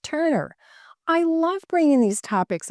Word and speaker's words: TRNR: The other I'm waiting to receive, and it's spelled TRNR and pronounced Turner.